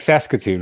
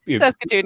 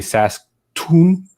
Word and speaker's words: Saskatoon: it's like it's like if you weren't Canadian or have known a little bit more about Canadian stuff you wouldn't pronounce that you would say sason or SAS whatever you know it